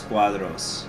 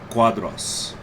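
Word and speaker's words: Quadros: excuse me cuadras so even though there's the oh it's making the uh sound so janio da silva cuadros i'll probably use it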